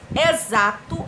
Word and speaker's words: exato: as pessoas se confundem exato exato ou exato é com x com z ou com s exato também é com x com som de z xampu xampu ou shampoo